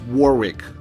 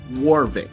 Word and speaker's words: Warwick: We use this Warwick. Warwick. Warwick. Warwick. Warwick. Jesus Christ. Warik. Warvik. That's how you pronounce it.